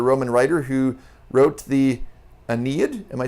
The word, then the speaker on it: Aeneid: to Virgil the Roman writer who wrote the Aeneid am I saying that correct yep finally yes I have pronounced it correctly yeah for now uh but